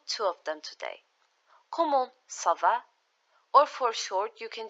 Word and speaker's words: ça va: So to reply how are you, you can say ça va bien. It's going good. Notice how we pronounce this as an S.